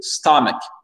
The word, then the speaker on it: stomach: Donc, bien l'accent tonique sur le STO, stomach, stomach, parfait.